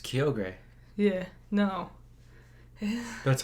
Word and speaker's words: Kyogre: It's Kyogre. Yeah, no. That's how we always pronounced it.